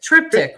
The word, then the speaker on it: Triptych: album number uh part three which is uh pronounce that for me triptych triptych right triptych just came out you can find